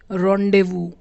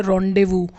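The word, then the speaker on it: rendezvous: रॉन्डेवू. इसकी pronunciation भी मैंने हिंदी में लिख दिया रॉन्डेवू.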